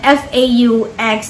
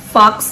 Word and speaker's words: faux: um bag review that the pronunciation for um like f-a-u-x is not literally fox leather it's actually faux leather and yeah i did